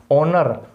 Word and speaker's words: honour: ऑनर, HONOUR, ऑनर, H silent रहता है।